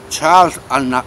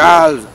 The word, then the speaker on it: Charles: Charles Aznavour. Cada vez lo digo peor. Eso. A ver. Charles Aznavour. La S no se pronuncia. Charles Aznavour.